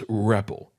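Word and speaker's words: REPL: print Loop or RPP I don't really know how that is pronounced because there is no official way to pronounce it I pronounce it as reppel so that could be wrong I am perfectly fine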